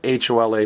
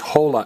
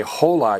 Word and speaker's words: hola: But do notice, it's spelled H-O-L-A, but it's not pronounced hola, it's pronounced hola. If you say hola, you're in a whole lot of trouble. Because what is the only silent letter in Spanish? H.